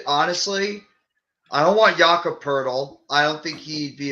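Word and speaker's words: Poeltl: In terms of the guys you listed, honestly, I don't want Jakob Pertl.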